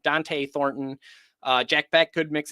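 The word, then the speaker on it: Dont'e: They might connect with Deontay Thornton or Dante. I always get that name wrong. Dante Thornton.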